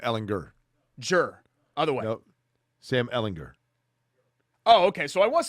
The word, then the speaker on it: Ehlinger: jur ellinger sam ellinger jur otherwise no sam ellinger oh okay so i was saying it right